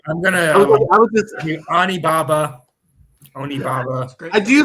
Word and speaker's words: Onibaba: Omni Baba or Omni Naba or is that Omni? You said it right the first time, so I'm gonna give you. Yeah, Okay. I'm gonna. I was just Onibaba.